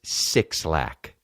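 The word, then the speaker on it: 6lack: Now, do I give a that it's that he wants to pronounce it black? No. Well, you know why you don't pronounce it black? Cuz it's sixlack.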